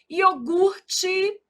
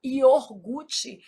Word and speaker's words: iogurte: Iogurte. O R é aqui, a gente às vezes desloca esse R, fala iorgute. Isso é um erro de ortoépia.